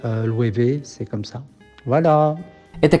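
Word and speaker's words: Loewe: et le W se prononce V, donc c'est Louévé. Voilà, j'espère que c'est assez clair, Louévé.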